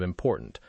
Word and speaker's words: important: Try to make the a sound in ma more precise, and be mindful of the silent t at the end of important.